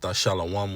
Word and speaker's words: Thashalawam: When you break the characters down in Thashalawam, pronounced Thashalawam, which means pay, you have the Tha, the Hebrew character Shah, followed by La, followed by Wa, followed by Ma.